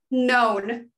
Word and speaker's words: known: to decided to become known. Don't pronounce the K.